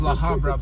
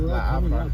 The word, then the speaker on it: La Habra: Yeah, so in Spanish you don't pronounce the letter H.